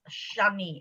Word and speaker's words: Sanyi: So Sani, S-A-N-Y-I. Sany, it's pronounced Shani in Hungarian.